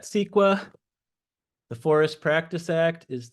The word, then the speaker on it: CEQA: you need to know the California Environmental Quality act we pronounce that squa the forest Practice Act